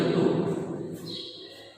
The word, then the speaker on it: ঋতু: যেমন ঋতু, ঋতু এর উচ্চারণ আমরা লিখব রয়স্বী তয়স্য ঋতু।